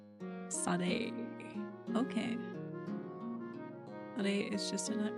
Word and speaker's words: Sade: Sade is pronounced Sade. Sade.